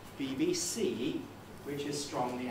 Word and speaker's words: BBC: bbc pronunciation unit now how do we say bbc bbc we say bbc in exactly the same way as we say ucl it has two stresses and it's the last one bbc which is strong the